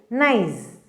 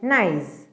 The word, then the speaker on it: gneiss: and its name is gneiss. What is it? Gneiss, and its spelling is Gneiss. What is it? Gneiss. Nice. And it is pronounced as nice. Okay, that G is silent there.